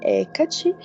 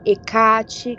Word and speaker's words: Hecate: Bom, aqui no Brasil a gente costuma falar Hecate, mas também tem essa variação de pronúncia, né? Nos hinos, por exemplo, a gente escuta como Hecate ou algo com uma pronúncia como Hecate. Então varia, mas podemos chamá-la de Hecate sem problemas.